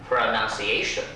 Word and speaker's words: pronunciation: 没有音标就没有英文，这句话一定要记住。老师教你怎么念啊？P R O 的念 pro，你看我一念我就可以写得出来，黄色的 pro，然后音标的符号呢是一个中括号，看到没有？中括号，不是小括号，更不是大括号，中括号。再来第二音节呢，N U A 念 none，看到没有？第三音节呢，C 呢就是 S 发音。 Pronunciation C，再来 A 呢是念 A，T I O N 念 sh，合起来就是 pronunciation，它有两个重音，第一个 pro 要稍微重一点，第二个 none pronunciation，这个 none 呢也是算次高一点，哎这样子，所以合起来我们怎么念呢？pronunciation。